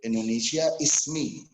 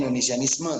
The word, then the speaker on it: Indonesia Ismi: pada waktu itu, yaitu Indonesia Ismi. Tapi orang membacanya Indonesianisme ya.